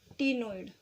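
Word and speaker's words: ctenoid: और C10 से बच्चों हमें रखना है टीनोइड स्केल। बच्चों C is silent here, C बोला नहीं जाता, लेकिन C10 से C और 10 को देखो इकट्ठा मिला के टीनोइड स्केल हो जाता है।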